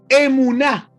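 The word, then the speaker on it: אמונה: Y la palabra emuná.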